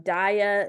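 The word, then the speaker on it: Daiya: Almond Breeze Guardian impossible Burger Beyond me um Dia is how you pronounce like the cheese um they do mac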